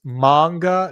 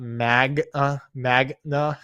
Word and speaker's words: manga: And Japanese is a uh it's manga, not magna.